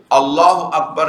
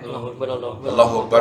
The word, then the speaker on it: اللہ اکبر: عام طور پر کس طرح پڑھتے ہیں؟ اللہ اکبر اللہ اکبر اللہ اکبر اللہ. اصلاً یہ حمزے کی آواز غائب ہے.